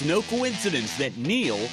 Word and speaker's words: Neel: It's no coincidence that Neel rhymes with deal, because that's something you could always count on with the leader in tires and auto repair for nearly a century.